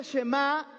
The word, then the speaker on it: Shema: significa Chema escucha escucha esta palabra se pronuncia Chema y de ahí es